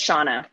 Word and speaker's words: Seanne: Pronunciation. I agree. Yeah. So it's Shauna.